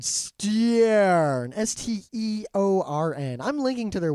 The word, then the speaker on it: Steorn: All right, so this Irish company called Steorn, Steorn. I'm linking to their website. I think it's like Storm, but Steorn.